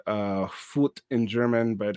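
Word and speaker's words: Vogt: Meyer and August uh fut two two of his collaborators in the United States is now V GT is pronounced uh fut in German but it's like vot in English because the G is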